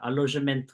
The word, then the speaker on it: Alojamento: Alojamento local, is that how you say it in It's perfect. Portuguese? Yes, perfect.